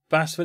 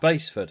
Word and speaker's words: Basford: Oi, it's not Basford, it's pronounced Baseford.